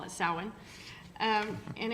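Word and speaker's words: Samhain: say is that that Sam ha thing that's coming up it's not samh it is a Celtic word and it is pronounced several different ways but we I call it sin um and it's a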